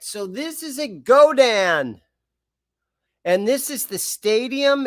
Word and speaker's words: Godin: I used to call him Godin, but I believe it's pronounced Godan.